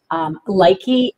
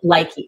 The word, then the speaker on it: Lykke: And I'm very excited tonight to talk to you about Lykke needles.